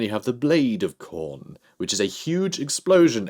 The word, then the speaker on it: Khorne: So we have the Horn of Khorne. It rhymes, so...